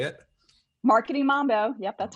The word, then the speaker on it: Marketing Mambo: Mambo podcast is that how you say it marketing Mambo yep that's right marketing Mambo that's a fun name uh well welcome again